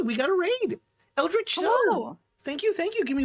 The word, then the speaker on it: Zoe: listen, where I'm from at least, even when it's spelled Z-O-E, it's still pronounced Zoe.